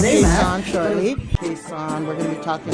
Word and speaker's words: Khesan: I think it's pronounced Khesan. Does that sound right? Sounds about it. Sounds about right.